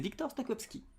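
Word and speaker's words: Wiktor Stoczkowski: L'anthropologue, ce soir, c'est Victor Stokowski. Bonsoir. Bonsoir, Bonsoir. docteur. Est-ce qu'on prononce bien votre nom?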